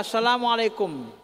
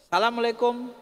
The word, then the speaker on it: Assalamualaikum: ada berucap and salam yang wajib itu adalah Assalamualaikum ndak boleh disebut Salamualaikum harus Assalamualaikum pakai alif lam enggak boleh Salamualaikum Salamualaikum